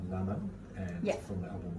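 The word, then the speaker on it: Naâman: And how do you pronounce the artist singing Carmen? So it's Naman. Naman, and Yeah.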